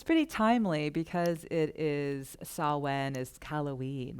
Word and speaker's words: Samhain: That weird Gaelic word is pronounced Samhain, which is pretty timely because it is Samhain is Halloween, right?